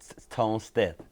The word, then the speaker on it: Tone Stith: So, first of all, you got a new artist, uh, Tone Stith. Mhm. Am I pronouncing it right? Yes. Tone Steth.